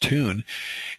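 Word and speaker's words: Thon: Hotel it's spelled t h n but it's pronounced tune and it's a beautiful property uh very very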